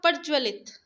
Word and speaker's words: प्रज्वलित: या पूरा ज आएगा तो आप देख सकते हैं अगर आप प्रोनाउंस करें मैं आपको बताऊं प्रज्वलित क्या प्रोनाउंस करिए यह लिखा हुआ आपका प्रज्वलित जबकि आपका होता है प्रज्वलित ठीक है तो हम